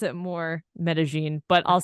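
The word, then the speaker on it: Medellín: let's explore Medellin Colombia I also pronounce it Medellin Colombia it's a mix of pronunciation but like when I was there I pronounced it Medellin but now when I'm back home I say Medellin how do the people who live there pronounce it but I feel like if you like speak Spanish that's how it's pronounced but then for English speakers more people were just saying Medellin or they don't say Medellin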